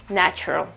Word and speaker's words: natural: I don't want to sound cocky or something, but this final L really doesn't belong. And you can see that, again, this A sound is not an A, okay? It's a natural.